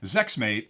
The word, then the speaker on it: ZEXMTE: company called zex mte which i'm gonna pronounce as zexmate they're missing an a in there but what they lack